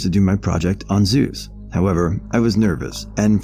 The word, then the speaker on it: Zeus: as a kid asked you do know it's pronounced zeus right once in middle school i was invited